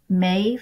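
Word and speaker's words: Maeve: still pick up this anthropology mave I believe that's how you pronounce it m AE V brand when I do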